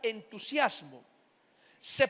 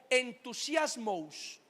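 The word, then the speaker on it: ενθουσιασμός: De hecho, como dato curioso, en el idioma griego también existe la palabra entusiasmo. Se pronuncia de la misma manera, pero en plural, algo así como entusiasmos, entusiasmos, así se dice en griego.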